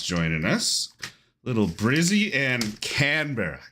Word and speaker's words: Canberra: Little Brizzy and Canberra. Canberra? Canberra. You got to try and make it one syllable.